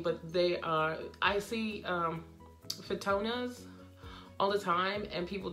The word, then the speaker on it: Fittonia: But this is actually an annual trailing plant of some sort, a fittata, how do you pronounce that? I didn't catch it. it's a fittona, and I actually had